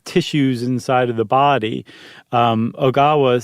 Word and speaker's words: Ogawa: out, a physicist by the name of Seiji Ogawa, or Ogawa. How would you pronounce that? Ogawa, and it's Ogawa.